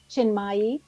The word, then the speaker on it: Chinmayi: Our expert tonight is Julie Chinmayi Door. And I might have misspel mispronounced that middle name.